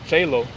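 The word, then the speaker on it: cielo: In modern Italian, that's uh uh cello.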